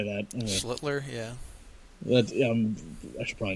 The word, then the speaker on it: Schlittler: Schlittler, yeah.